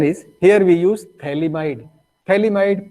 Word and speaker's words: phthalimide: Phthalimide, PH is the silent. That's why it is pronounced as phthalimide.